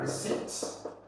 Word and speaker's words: receipt: Here you can have something like receipt. Receipt. The P is silent.